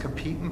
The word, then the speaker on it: Capitan: So she was awarded, and it's not pronounced Capita, I believe it's pronounced Capitan Prize.